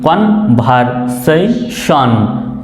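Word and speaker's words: conversation: সে TION, এটা একটা word format যে শব্দের শেষে যদি TION থাকে সেটা শন উচ্চারণ হয়, শান। এরকম একটু এইভাবে উচ্চারণ করতে পারবেন, শান। কন, CON কন, VER ভার, সে TION শান, কন ভার সেই শন।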